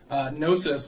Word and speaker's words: gnosis: a completely different thing gnosis with a silent G is an ancient Greek